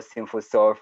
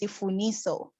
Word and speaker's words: Sifuniso: So let us welcome Sifuniso from Yellowcard. Welcome. Hi, thank you so much. So the last name is Sifuniso. Oh, sorry for that mispronunciation.